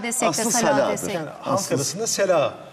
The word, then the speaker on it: salâ: Doğru kullanımı sala, sala aslında ama sela. Halk arasında sela da denir. Sela da denir. Daha telaffuzu kolay.